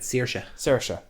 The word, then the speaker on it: Saoirse: But yeah, Saoirse Ronan. Oh, even I'm pronouncing it wrong. That's how I've always pronounced it. Saoirse. Yeah, either way is fine. That's the pronunciation of it.